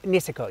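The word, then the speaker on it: Niseko: go back and talk a little bit about naso is that the correct pronunciation uh nisso yes nisso oh you say nisso uh as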